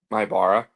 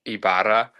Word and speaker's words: Ibarra: Ibara. Say it one more time. Ibara. Ibara. Yeah, it's the same way. It's just different. It just sounds different because in Spanish it's like Ibara.